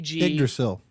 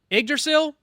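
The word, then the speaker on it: Yggdrasil: It's spelled Y G Idrasil. Idrasil. Oh god, I've been saying that wrong. I knew I was saying it wrong, but that's that's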